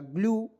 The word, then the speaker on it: glue: चलिए अब देखते हैं दोस्तों, यहाँ पे देखिएगा GLU, देखिए जी से आधा ग, L से ल, ई को इसमें साइलेंट कीजिएगा, हो जाएगा ग्लू, GLUE ग्लू।